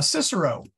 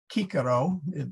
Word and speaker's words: Cicero: Rome at Tusculum uh Cicero or kikaro in is the way he would have pronounced his name had a villa in